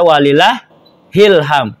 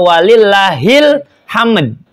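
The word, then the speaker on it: ولله الحمد: dan seterusnya itu sampai walillahil ham. Ingat tulisannya tuh walillahi alhamdu. Maka dibacanya walillahil hamd gitu kan. Jangan walillah ilham. Isi ilham siapa di bawah-bawah itu? Ya. Kebanyakan ujungnya ilham, padahal hil hamd.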